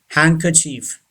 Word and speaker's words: handkerchief: monkey donkey number three handkerchief yes very tricky pronunciation handkerchief first d is silent and second r is silent handkerchief and don't say